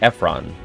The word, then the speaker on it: Efron: his last name zac efron zac efron infinite emphasis on the f zac efron uh i don't know